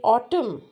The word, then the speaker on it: autumn: Then autumn. So autumn, right? So it's not autumn. It's autum.